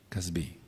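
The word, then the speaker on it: Cozbi: llamaba casbi o casbi más bien el acento en la y C A Z b grande i casbi de acuerdo ahora Estamos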